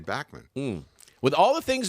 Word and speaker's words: Bachman: it was German uh-huh so he would say Bachman I mean he sent her press release he actually put in parentheses B Ock - ma hon how to pronounce my name but in Canada we say Backman mmm with all the